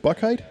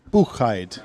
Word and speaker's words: Buchheit: I'm going to say, is it Buchheit? Yes. Just like it's spelled. Well, I mean, if you want to be all German, Buchheit. Buchheit.